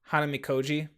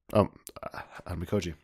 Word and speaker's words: Hanamikoji: Pronounce it again for me. Hanamikoji. Hanamikoji.